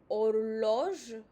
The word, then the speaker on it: horloge: H is silent, so horloge.